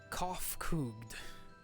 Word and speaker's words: Kofkugd: As for nomenclature to address my individual person, I believe it would be pronounced Kofkugd. Yes, Kofkugd of the Ea.